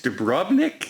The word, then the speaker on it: Dubrovnik: It's in Croatia, and I believe it's Dubrovnik is how you would pronounce it.